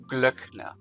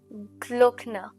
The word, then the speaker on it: Glöckner: Um so, if you want to pronounce the ö, um essentially what you're doing is you're opening your mouth just a little bit. You're rolling your tongue back.